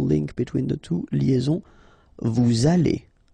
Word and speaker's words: vous allez: Then, vous allez, remember, a Z at the end here will give you this A sound, okay? Allez, and then, as previously, this little link between the two, liaison, vous allez, right?